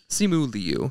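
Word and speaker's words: Simu Liu: how do you say his last name Leu simu Leu yes Mr shangi himself you've seen him in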